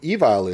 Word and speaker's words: Evile: We're going to say Evile, right? Yes. We're not going to use a Spanish pronunciation.